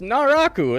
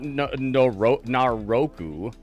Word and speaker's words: Naraku: Yeah, it's Naraku. It's not Naroku.